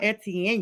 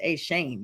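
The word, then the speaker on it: Etienne: So, um, this brings in Trevor a Shane. Let me get his name correct because I heard that it's not Etien, you guys. His brother's like, it's a Shane.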